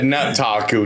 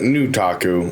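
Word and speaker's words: Nutaku: I think your first syllable is gonna be nut then. Yeah. That nut taku, not the new taku.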